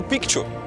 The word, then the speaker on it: Picchu: Yes, you heard correctly, it's pronounced Pikchu.